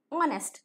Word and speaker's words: honest: Very ऑनेस्ट, HONEST, okay, ऑनेस्ट। एच इसमें silent होता है इसलिए हम इसको ऑनेस्ट बोलते हैं, एच का प्रोनाउंसिएशन हम नहीं करते हैं, ठीक है।